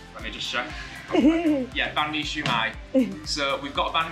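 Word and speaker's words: Bánh Mì Xíu Mại: Yeah, Banh Mi Xiu Mai.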